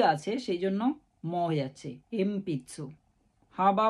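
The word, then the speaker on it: 鉛筆: গেল শিমবুন সিম্বুন মানে নিউজপেপার এরপরে আছে এমপিসু এম পিতসু এটা এন পিতসু না হয়ে এম পিতসু হচ্ছে পি আছে সেজন্য মছে এম পিতসু হাবা বা পা লাইনে লেটার বলতে হাহি হুয়ে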